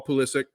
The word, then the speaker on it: Pulisic: And every time I looked up, it looked like Pulisic was looking nice on the ball. Pulisic. Sorry, I didn't mean to give the Premier League announcer pronunciation there of our American boy.